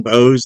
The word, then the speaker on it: Boese: If you go to my Pinterest, Bose, that last name is spelled Boese. It's German.